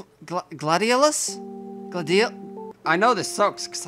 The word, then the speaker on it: gladiolus: These are a type of flower called gladiolus?